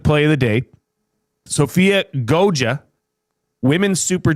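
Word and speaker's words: Goggia: Now it's spelled G O G G I A but it's pronounced Goa.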